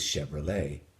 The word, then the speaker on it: Chevrolet: Now, you'll already have used the silent T probably 1,000 times because that's what you have with Chevrolet, the automobile.